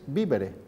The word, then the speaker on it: vivere: bebíamos mucho, y luego que se pronunciaba igual vivere con V que vivere con B. Los italianos dirían vivere y vivere. Nosotros decimos vivere en los dos casos.